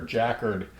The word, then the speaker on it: jacquard: dry brine and I'm going to use my jacquard or jacquard tenderizer on it.